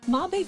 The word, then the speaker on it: Mabe: Okay, so Mabe Village, which I did pronounce wrong in the previous video, but Mabe Village is a farming village similar to Auden Village.